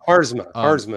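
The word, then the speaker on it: Haarsma: And I wanted to Deborah Harasma, and I hope I didn't pronounce her name wrong. Harzma is her name.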